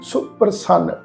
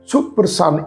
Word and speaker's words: सुप्रसन्न: सुप्रसन्न भये लह गए वियोग, तो पाठ की है जी सुप्रसन्न। सुप्रसन्न सस्से नूं औंकड़ दी मात्रा है, छोटी मात्रा है, सुप्रसन्न इदा पाठ उच्चारण करांगे।